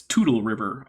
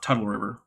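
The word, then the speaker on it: Toutle River: Okay, so Jillian, the entire Columbus igneous rent is confirming that it's Tootle River and not Tuttle River. Okay, thank you very much. Okay. Yeah. That makes sense given how it's spelled. T-O-U-T-L-E, yeah, Tootle, yeah.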